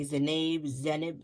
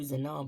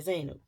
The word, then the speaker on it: Zainab: I want to say Zenib, and all those things. And I know I'm not saying it right. But I keep just going to Zanab, but I know it's not that.